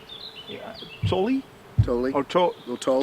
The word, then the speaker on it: Tolle: You pronounce it Freke. Yeah? Yeah, really. I always tell about Tim Freke, just like Eckhart Tolle.